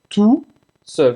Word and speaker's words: tout seul: Não pronuncia o T no final de tu para o homem e para a mulher.